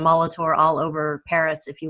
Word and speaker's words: Molitor: My last name is in French it's Moltor. It's um and so you'll find the name Molitor all over Paris if you will.